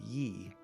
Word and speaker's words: Yi: concept of a Yi in Chinese characters it's pronounced why I Yi and Yi is a very ancient concept it